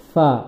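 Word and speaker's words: ف: মত এটা হচ্ছে ফা ফা উচ্চারণ করার সময় ফাই আপনার নিচের ঠোটের পেট উপরের দাঁতের আকার সঙ্গে লাগিয়ে ফা আমরা দুই ঠোট মিলাবো না অনেকে ফা ফা এভাবে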